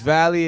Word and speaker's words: Valee: Veil? So I don't want to Vale? like Veil? mess it up. It's Vale, it's Valley.